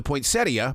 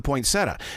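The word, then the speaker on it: poinsettia: things like for instance up in Montana it's the point CIA but here in Charlotte North Carolina it's the pointsetta now is it the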